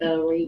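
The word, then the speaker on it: ברית: But you know the way I talk, I say Barit. Barit. You'll add The like 4 different Barit.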